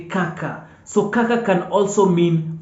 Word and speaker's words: kaka: sound different but mostly K is going to be pronounced as Ka in the Swahili language and the example is Kaka kaka kaka kaka k-a-k-a kaka kaka